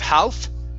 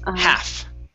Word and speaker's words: half: So instead of half, it's half. Half? Half. Ah, the L is silent.